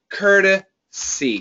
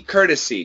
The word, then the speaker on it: courtesy: This uh pronunciation c o r. It's the same as this cur and it's a flap t. Courtesy. Courtesy.